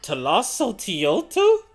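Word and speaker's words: Tlazolteotl: Talasso Tioto? Well, there we go. Now we know how to pronounce it, and I'm totally gonna forget that. Talasso Tioto.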